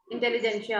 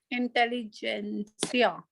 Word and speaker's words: intelligentsia: Intelligentsia. What is the word? Intelligentsia, yeah, intelligentsia. Intelligentsia. It's a T is silent there.